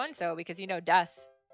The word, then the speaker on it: desu: just keep saying dust it's very common to when it ends in like a ooh like a u like that to just kind of not super say it like really loud you like soften it so that's why it's i'm saying desu but i'm saying it like dust because i'm making the ooh almost like gone but that's a very